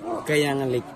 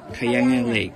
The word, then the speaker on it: Kayangan Lake: How you pronounce the name of the lake? Kayangan Lake. Kayangan Lake.